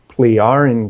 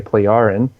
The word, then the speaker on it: Pleiaren: They were human looking, they were Nordic looking, and they were the Pleiaren group, pronounced that way, Pleiaren.